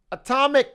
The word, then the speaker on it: atomic: how to say it there's atomic and then it's just my initials uh so i should never say the sk yeah it's just silent got it well all